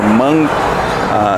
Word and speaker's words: Hmong: from Laos I believe they were known as the Hmong or monk they were natives to to Laos and you spell that I guess as Hmong and they were uh